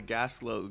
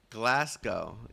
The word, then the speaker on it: Glasgow: That's not how the Gaslow gang does things. Did it not say gas glow? Glasgow.